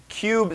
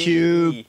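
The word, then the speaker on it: Kub: So Cube Systems, and find out more at Cube, spelled with a K. K-U-B. Cube.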